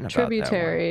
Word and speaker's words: tributary: you liked that one tributary is how you say it tributary they put it in